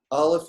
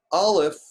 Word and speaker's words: Aleph: Aleph is silent.